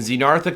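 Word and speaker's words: Xenarthra: They come from the lineage called Xenartha, spelled with an X. And Zenartha contains all your sloths, all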